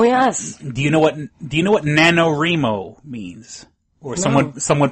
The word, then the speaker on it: NaNoWriMo: Do you know what NaNoWriMo means? Or someone pronounce it NaNoWriMo.